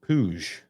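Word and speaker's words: Puig: David Pooj is pronounced Puj.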